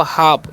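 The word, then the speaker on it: half: एच ए एल एफ तो इसे हाल पढ़िए का नहीं इसे क्या पढ़ना है इसे पढ़ना है आपको हाफ यहां पर एल साइलेंट है ठीक है तो हाफ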